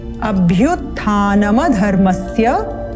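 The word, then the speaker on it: अभ्युत्थानमधर्मस्य: द्वितीय पंक्ति अभ्युत्थानम अभ्युत्थानम यहां पर जो म है इसको हम हलंत युक्त म की तरह उच्चारण करते हैं जो कि गलत है तो यहां हमने देखना ध्यान क्या देना है इसका उच्चारण करना है नम अ स्वर युक्त करते हुए अभ्युत्थानम धर्मस्य अगर हम इसको हलंत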